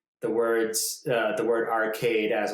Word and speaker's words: Archaide: long but the yeah it's called arcade and we hear that all the time in the audiobook but it's not spelled arcade like arcade it's spelled arcade a-r-c-h-a-i-d-e and so something why is that